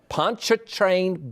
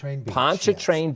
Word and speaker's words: Pontchartrain: you gave me that idea punch a truck Pontchartrain Beach Pontchartrain Beach and this as I introduced it as